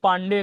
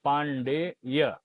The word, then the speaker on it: पांडेय: वहीं पांडे की बात करें, पांडे, पांडे गलत है जी। पांडे ही अधिकतर लोग बोलते हैं, लिखते भी हैं, लेकिन शुद्ध क्या होता है? पांडेय, है ना।